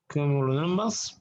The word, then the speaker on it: cumulonimbus: This cloud is cumulonimbus. Okay, it's called Q mu. Okay, Q mu Cumulonimbus. You can pronounce like that.